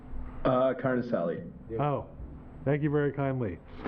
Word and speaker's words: Carnicelli: should have Trevor O'Leary, Mariana Degatti, and Carnicelli. Did I pronounce that right? Concelli? Carnicelli.